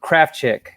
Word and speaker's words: Krafchick: We got producer Pat and Caesar Salad the dog chilling right now, and then we have from the Dateable podcast, Julie Krafchick. Am I pronouncing that right?